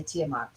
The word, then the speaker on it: Tiamat: here and that literally is how you say tiamat yes and the reason why we're saying it's